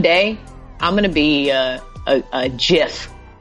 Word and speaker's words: GIF: gonna be a jiff points points for correct pronunciation by the way okay mucho points there's we don't accept another pronunciation that's not true I want to say gift and I only said jiff just so I could tell the people that I understand that it is jiff but it's gift oh